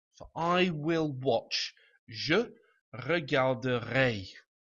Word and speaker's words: regarderai: So, sticking with regarder, we will get, for I will watch, je regarderai. And again, we pronounce the R in this now. Regarder, usually, je regarderai.